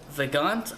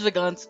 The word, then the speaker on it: Vagante: And we are going to look at Vagante, I believe is how you say it. I think it's French, so the E at the end wouldn't be pronounced.